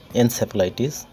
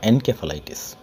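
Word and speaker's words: encephalitis: মস্তিষ্কের প্রদাহ বা ইনফ্লামেশনকে বলা হয় এনসেফালাইটিস বা এনকেফালাইটিস, যেভাবে উচ্চারণ করুন।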